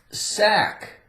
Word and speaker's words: sack: Sack. A-C-K again. Sack. We have a silent C.